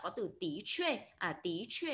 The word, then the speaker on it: 的确: Chúng ta đọc là tí chuê.